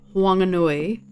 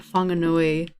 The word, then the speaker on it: Whanganui: was waiting for her my understanding is that wanganui is the correct pronunciation of the tribe of that area but it's because there's different dialects of maori wanganui and whanganui are both correct just in different dialects but within wanganui it